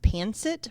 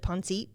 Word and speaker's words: pancit: It's actually pronounced pancit, but for whatever reason, our family always pronounced it pancit.